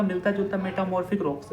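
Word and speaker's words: metamorphic: अब हमारा अगला जो है जियोलॉजिकल क्लासिफिकेशन में पहला जो है इग्नियस हो गया, सेडिमेंट्री हो गया, मेटाफॉर्मिक रॉक्स, मेटामॉर्फिक है, सॉरी मैं गलत प्रोनाउंसिएट किया अभी, मेटामॉर्फिक रॉक्स, ठीक है।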